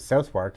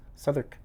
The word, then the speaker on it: Southwark: Uh it's spelled Southwark, but uh I looked it up and it very much says do not pronounce it Southwark. It's Surk.